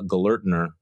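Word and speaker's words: Gelernter: And I wrote about a piece by Daniel Gellertner. Is that how you pronounce the name?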